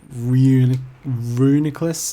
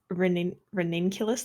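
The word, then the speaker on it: Reuniclus: I always thought it was ranunculus, like a homunculus, but that's probably wrong. So Well, it's supposed to be disregard. it's supposed to be like nucleus.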